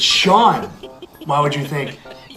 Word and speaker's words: Sean: which means this word is, Scene? no, it's Sean.